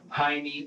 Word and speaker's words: Jaime: and Jaime here is pronounced with an H sound like it would be pronounced in Spanish but Michael and the detective pronounce Jaime with the J sound